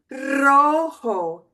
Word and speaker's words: rojo: But I just wanted you to know that any time in Spanish, a word starts with an R, I represent it with two R's, so you know that you trill it. This would be rojo, rojo.